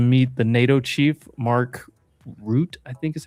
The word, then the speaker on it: Rutte: Also, Trump is about to meet the NATO chief, Mark Rutte, I think is how you pronounce it, R U T T E.